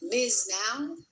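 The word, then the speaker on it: MS NOW: It's Miz now. Miz Ms. Now, she didn't know how to say it.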